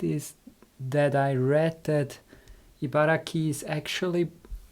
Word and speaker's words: Ibaraki: an interesting fact is that I read that Ibaraki is actually pronounced Ibaraki by some locals and it is because of